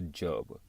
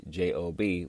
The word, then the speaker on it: Job: We all can relate to a Job, or as it's spelled out in today's age, J-O-B, which, you know, translates to job, but the biblical context for the name is actually Job.